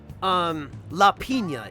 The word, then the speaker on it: piña: the term piña colada, piña is the Spanish word for pineapple. La piña, is how it's pronounced. And without the tilde, it would be pronounced la pina. So the tilde is what changes its pronunciation to piña rather than pina.